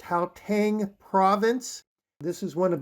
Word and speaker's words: Gauteng: have Arisen from the I believe it's pronounced how Tang Province this is one